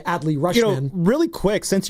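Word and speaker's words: Adley Rutschman: Right, shout out Audi Rushmans of the world, as Bonte Hill trying to say Adley Rushman.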